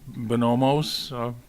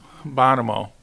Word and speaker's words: Bono: favor of uh bomos I gotta get the your name pronounced correctly Bono okay now I got it right okay uh the Eagle